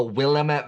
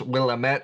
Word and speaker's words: Willamette: Most of the wine production is centered around the Willamette Valley. Yes, I know Willamette. Sometimes I like to mispronounce Willamette because it gets people so upset.